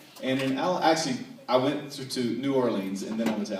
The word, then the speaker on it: New Orleans: And also, when you ask them how to pronounce where they live, it's not New Orleans, it's New Orleans, right?